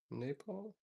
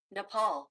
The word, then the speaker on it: Nepal: I think I'm pronouncing that incorrectly. Napole. How do you pronounce? Let's ask Siri. Nepal.